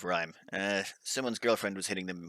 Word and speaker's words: Rime: oxygen not included on Rime. Now, there's been a few concerns about the pronunciation of the name, and by concerns, I was pronouncing it incorrectly. Rime. I was saying Rim instead of Rhyme.